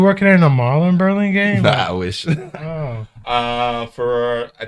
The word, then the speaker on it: Burlingame: Burlingame.